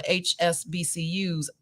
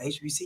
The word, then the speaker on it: HBCUs: Also, I would get that college fund going for my kids to go to HSBCUs. Did I say it right? No, HBCUs. I always say that wrong because I didn't go to one.